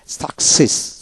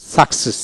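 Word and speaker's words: success: সাক সিই double S সাকসেস সাকসেস C double S মানে একটা এস উচ্চারিত হবে তারপর আসেন এক সেপ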